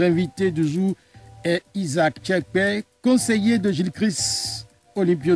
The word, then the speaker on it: Tchiakpé: En fait, quelle est la réelle prononciation de votre nom? Tchekpe. Tchekpe.